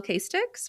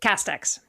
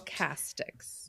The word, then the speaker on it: Casteix: And first of all, I am pronouncing your name correctly. Kix, right? Castex. Cast I'm so sorry. Castics. Oh god. No, don't worry about it. Castics. Castics. Yeah.